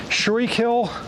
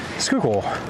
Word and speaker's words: Schuylkill: I've heard that's definitely how you know that someone's either not from here or new to the city is how they pronounce things like Skookul and Whisken, Pashunk, uh, all of the uh, all of the various complex names.